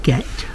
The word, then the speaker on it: Gight: Braes of Gecht, at least that's how we think it's pronounced.